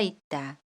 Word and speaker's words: 있다: 예의가 있다 We will look at the meanings of '예의' and '있다'. 예의 It can be pronounced as either or .